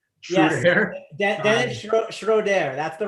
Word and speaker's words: Dennis Schroeder: Yes, Dennis Schroeder.